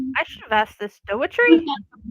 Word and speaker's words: Daughrity: Dougherty? Dougherty? How do I say it properly? It's just Daughrity. Daughrity, thank you.